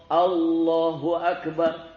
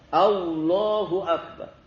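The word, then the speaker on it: الله أكبر: Tafhim itu ditebalkan Allah. Allahu Akbar. Jadi bukan wau. Kalau dibaca pakai wau berarti keliru. Al Allah. Allahu Akbar.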